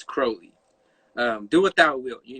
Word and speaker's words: Crowley: crowley crowley crowley um a lot of people mispronounce his name wrong but you think of the word holy it's crowley um do without will